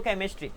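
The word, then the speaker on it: chemistry: केमिस्ट्री ठीक है ना जब केमिस्ट्री बोला तो यहां पर स है ठीक है ना स की पहले स में h के पहले सी आ गया इसीलिए एच साइलेंट हो गया तो यहां पर एच का साउंड नहीं निकल रहा ठीक है ना आप सिंपली बोलते हो केमिस्ट्री जहां पर एच का कोई नामो निशान नहीं राइट ऐसे ही आपने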